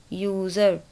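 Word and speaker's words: user: तो ये सारे एग्जाम्पल्स हैं जहाँ पर कि आपको स्पेलिंग वाइज देखने में लग रहा है कि ये वॉवल से शुरू हो रही है स्पेलिंग, बट जब आप प्रोनाउंस करते हैं तो वॉवल साउंड नहीं आती है, कॉन्सोनेंट की साउंड है।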